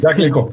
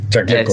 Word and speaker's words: Jacques Lecoq: Al lado del famoso actor francés, que me perdonarás mi mala pronunciación, pero Jacques, algo así. Jacques Lecoq, sí, Jacques Lecoq.